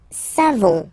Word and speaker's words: savons: Nous savons. So classic ending for nous, O-N-S. You don't pronounce the final S.